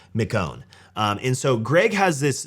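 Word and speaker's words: McKeown: Greg and I believe his last name is pronounced McCone and so Greg has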